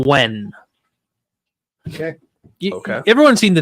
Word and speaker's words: Nguyen: It's gonna sound, but the name Wen. Okay. Okay. Everyone's seen the name Wen. Wen. You've seen it a bunch, Jared. Work in telemarketing. Yeah, Nguyen. That is Wen.